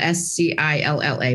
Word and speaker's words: Scilla: My name is Scilla, and it's spelled like Scilla, S-C-I-L-L-A, but it's pronounced Scilla.